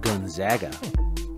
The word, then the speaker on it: Gonzaga: here on this episode but enjoy it it's pronounced gonzaga until next time